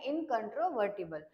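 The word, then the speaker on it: incontrovertible: टी आय बी एल तर याच प्रोनन्सशन आहे इनकंटोवर्टिबल याच मिनिंग आहे इमपॉसिबल टू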